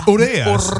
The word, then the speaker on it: Urrea: because no one it's Orea. That's how you say it.